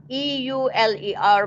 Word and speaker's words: Euler: is what is called the euler method okay it's spelled e-u-l-e-r but it's pronounced as euler okay so what